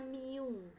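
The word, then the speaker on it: μ: di persamaan seperti ini Ini bacanya Miu nah ini adalah Miu itu adalah koefisien gesekan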